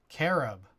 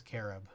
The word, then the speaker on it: carob: sure here I'll just look it up carab pronounce oh wait what the carob it is carob all right um let me know if anyone